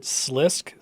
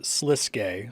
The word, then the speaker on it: Sliske: the editing Bay uh I pronounce it slisk through this entire episode including in my summary commentary it's pronounced sliske somebody corrected me so